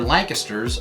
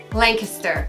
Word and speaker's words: Lancaster: when you read it or hear about other Lancasters around the country. It's pronounced Lancaster, not Lancaster.